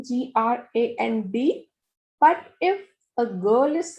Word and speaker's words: grand: So if a boy is saying that I am tall, then you will use the spelling GRAND. But if a girl is saying, then we will use the spelling GRANDE.